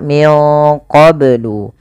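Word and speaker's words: مِنْ قَبْلُ: Wu qblu YH kemudianfal qblu ini banya harus dipantulkan karena ia ada bacaan qqalah maka Bacanya adalah minqblu kesalahan yang terjadi dalam membaca Qalqalah tidak memantulkannya contoh qou atau menambahkan Hamzah qu qu ini menambahkan Hamzah maka dalam membaca Qalqalah tidak boleh ada dua itu tidak boleh yang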